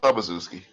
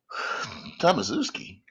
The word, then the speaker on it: Tomaszewski: Randolph Tomaszewski. No, dear, his name is Tomakatuski. Tomatsky? Tam- what was his name? Yeah, it was Tomaszewski. Yeah, what's up, Bazuski?